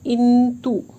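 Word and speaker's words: 印度: अब आप देखिए इंतु, YINDU, डी को त प्रोनाउंस करते थे, याद रखिएगा।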